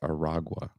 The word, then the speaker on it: Aragua: I kept saying Tren de Agua. I think I spelled it wrong, but it's not. It's Aragua. Aragua.